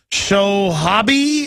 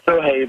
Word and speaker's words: Sohaib: Let's go to Sohabi, I think I'm pronouncing it, in Oklahoma. You're on the air. Thank you for my call. Thank you, Jim, Alex. It's Sohaib, but thank you very much for taking my call.